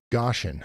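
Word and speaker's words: Goshen: She says it actually rhymes with ocean, not oh gosh. So Goshan, huh?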